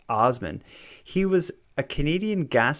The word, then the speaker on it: Assman: his name but it's it's spelled asman pronounced Osman he was a Canadian